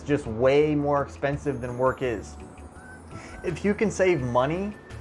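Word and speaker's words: Workiz: and i keep saying work these guys but it's pronounced work is i don't know why i am it's okay so it's pronounced work is and not workees so work is easy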